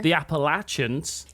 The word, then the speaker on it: Appalachians: The Appalachians.